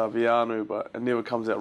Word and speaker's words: Veainu: Well, I've had a lot of pronunciations of of my name. And I've had Vanuatu Vanu just and it's gone all over the show. But um the correct way to say my name is Vanu.